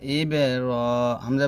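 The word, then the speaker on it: إبراهيم: এবে কলকলা ইবে রহিম এতে আমরা তিন টান দিয়ে মিমটাকে সেকেন্ড করব ওয়ালা ওয়ালা আলি ওয়ালা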